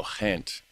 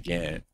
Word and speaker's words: Ghent: So I keep So duh the G is pronounced kind of like a throaty H like a h you know. So hent not gent.